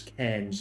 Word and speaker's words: Cairns: And it's not Cairns, it's Cairns, I think, is how it's pronounced.